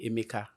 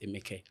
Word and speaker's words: Emeka: People call me Emeka, but the Okay. right pronunciation is Emeka.